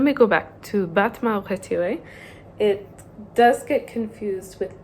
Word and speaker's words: retiré: Battement retiré. Retiré, or retire with an accent on the E, means withdrawn or shortened.